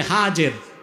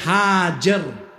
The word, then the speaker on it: হাজের: এবার তুমি তোমার স্ত্রী হাজের যাকে আমরা বলি হাজেরা হাদিস শরীফে তার নাম এসেছে হাজের কি নাম আমরা বলি সমস্যা নাই শুদ্ধ উচ্চারণটা কি হাজের হযরত হাজের আর তার ছেলে হযরত ইসমাইল